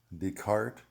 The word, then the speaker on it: Descartes: so i've done my homework and the correct pronunciation is descartes spinoza leibniz schopenhauer and hegel so i'm letting